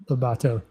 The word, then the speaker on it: Lobato: Lobato means wolfing.